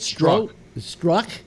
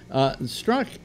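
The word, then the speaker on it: Strzok: Well, part of it was that, and I have trouble pronouncing his name, but Struck, is that how it's pronounced? Yeah, the Z is silent, I think. Yeah, Struck.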